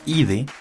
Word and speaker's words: idae: para una familia zoológica, Idae, recuerden que se pronuncia Ide, más el género Canis.